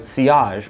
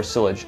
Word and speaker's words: sillage: it has very good ciage or sillage depending on how you like to pronounce it however keep in mind